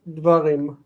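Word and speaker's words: דברים: So this is the tone syllable. We're going to mark it with accent. Okay, this syllable is near, and this syllable is distant. What happens? Near is long. That's wonderful. And distant reduces. So the form is dvarim.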